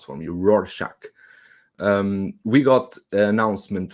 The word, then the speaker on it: Rorschach: clockwork orange rorschach is that is difficult to pronounce from you roar shock um we got an announcement from yen toys